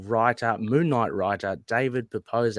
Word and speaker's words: Pepose: No, it's fine. It's Pepose.